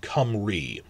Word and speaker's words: Cymru: There's a Y between two consonants, so that's as it's come, and RU, if it's a U at the end of a word, it's double E, so it's pronounced Cymru.